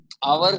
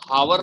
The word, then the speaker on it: hour: कुछ वर्ड ऐसे होते हैं, अब जैसे कि आवर, हाँ, आवर की स्पेलिंग बताओ। HOUR, आवर बोल, अब उसको हम हावर नहीं बोल सकते, आवर ही बोले जी सर।